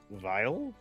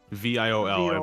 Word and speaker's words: viol: I've always heard it pronounced Viol. Yeah. Imagine like a larger fiddle or you know it's a fredded stringed instrument. Those things sound gorgeous. By the way, it's not vile.